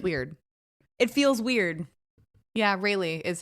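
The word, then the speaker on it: RayLee: So her name's Rayleigh, but it's spelled phonetically like little R-A-Y, capital L-E-E, like it's Rayleigh.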